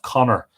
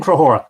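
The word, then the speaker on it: Conchobar: dull was Harper - King crow horror I've been calling him which is I think the modern Irish pronunciation of Connor but an alternative pronunciation apparent his Conqueror King crow hora and he had but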